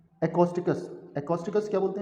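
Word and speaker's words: acoustics: एकॉस्टिकस word तो लिखने में ऐसा आएगा, ये लिखने में तो इसको ऐसा आएगा, लेकिन आप इसको एको ना बोल के इसको इको वर्ड प्रोनाउंस कीजिए।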